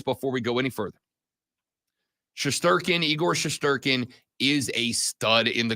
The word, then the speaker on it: Igor Shesterkin: I was trying to get the pronunciation down, and the way you say it is Igor Shesterkin.